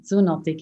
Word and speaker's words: Zoonotic: other book influencers, but now your third book Zunotic, do I pronounce that correctly? Yes, exactly. Zunotic is perfect.